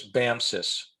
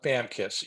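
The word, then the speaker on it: BAMCIS: six troop leading steps i've always pronounced this bam sis i've heard uh fellow marines call it bam kiss either way it works i've i've boldened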